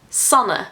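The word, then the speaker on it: Sanne: Once in a while, my name is pronounced Sana, and in the Netherlands, it's about as common as being called Sarah.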